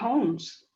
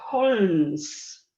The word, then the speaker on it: Holmes: que se dice Sherlock Holmes. Claro, no se dice Sherlock Holmes. Se caen las letras. En inglés hay muchísimas consonantes que son silenciosas en muchas situaciones.